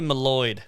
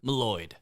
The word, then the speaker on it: Mylod: Yeah, I'm going to say Malloyd.